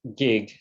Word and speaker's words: Kiet: name is gig you'll see the name spell as k-i-e-t but it's pronounced gig as in the last